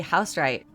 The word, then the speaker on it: Housewright: This is Bree, and today I'm here with the lovely Housewright.